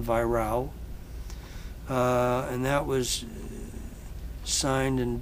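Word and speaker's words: Weyrauch: Adio by Virao, spelled W-E-Y-R-A-U-C-H, but pronounced in German, Virao.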